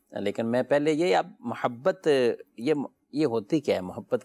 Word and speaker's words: محبت: لفظ، ٹھیک ہے، اور جب عربی زبان میں اس کا جو تلفظ ہے وہ میم کے زبر کے ساتھ ہے، محبت۔ لیکن کسی بھی زبان